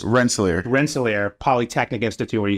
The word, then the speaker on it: Rensselaer: He went to RPI, and I'm only saying RPI because I don't know how to pronounce the first word. It's just Rensselaer.